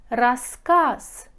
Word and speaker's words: рассказ: пишите говорите клуб клуб рассказ пишите за говорите с рассказ рассказ друг друг пишите га